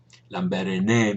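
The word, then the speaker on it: Lambaréné: he was um Gabor lamb lambaren lamber maybe in French is the way it's pronounced but imagine that studying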